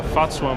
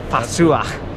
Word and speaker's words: FAZUA: So I mainly, however you pronounce it, just put as much of a German accent on it as you can. FAZUA. FAZUA.